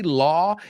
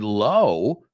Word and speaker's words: law: comes out right but do you say law every time you have to say the word law because I hope you're not saying the word low because those words do not